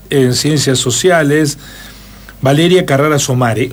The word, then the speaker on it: Somaré: Es con acento en la E, ¿no? ¿Somaré? En la E, exactamente. Bueno, es sí.